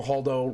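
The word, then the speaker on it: Holdo: of options but vice admiral haldo rhymes with Baldo yeah it does okay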